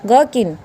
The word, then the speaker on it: gherkin: GHERKIN, यहाँ पे इसको H को है को साइलेंट करना है, तो ये क्या बन गया, गर्किन। क्या बन गया, गर्किन। तो यहाँ पे H साइलेंट रहेगा।